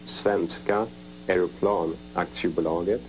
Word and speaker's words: Svenska Aeroplan Aktiebolaget: Saab, that is 4 letters, S-A-A-B, and it stands for, in Swedish it's pronounced Svenska Aeroplan Aktiebolaget, and translated into English it is Swedish airplane,